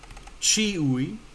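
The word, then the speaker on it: ĉiuj: Chiui, chiui, right? Mute my phone there. That means everyone or everybody. And there's only those two syllables there, and that one comes first. Chi, ui.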